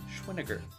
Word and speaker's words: Schweniger: me through this channel it is pronounced schweniger it rhymes with vinegar see all those books